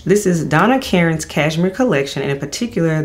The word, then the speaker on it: Karan: Because you have been talking about this fragrance from the house of Donna Karen, or Karan, some people say it like that, but Donna Karen.